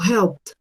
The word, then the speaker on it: helped: Yo esa ed en pronunciación la voy a cambiar por una T. Así no sea capaz de hacer el sonido de la P, hago sonar una T. Entonces yo digo helped, helped, ¿sí? Con una T al final de ese sonido.